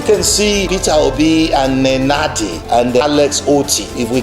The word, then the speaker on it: Nenadi: And then when Nigerians see that beautiful picture, Peter Obi smiling with Abure, Nanadi, that lady's name is a tongue twister. Can you give me the pronunciation of her name? Nenadi.